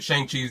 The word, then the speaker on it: Shang-Chi: put some respect on my Shang-Chi's name.